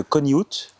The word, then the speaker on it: Conihout: Je m'appelle Robin Gervet et on se trouve aujourd'hui avec Marie de Coniut. Est-ce qu'on dit comme ça ? Alors, on prononce pas le thé. Merde. OK. Marie de Coniu.